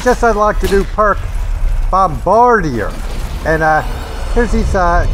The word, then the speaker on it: Bombardier: silence H I have this is pronounced bombarder I'm pretty sure it's Bombardier dark and is all